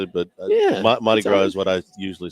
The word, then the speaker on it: Mardi Gras: We got Mardi Gras menu, huh? You don't pronounce the R? Did you say Mardi Gras?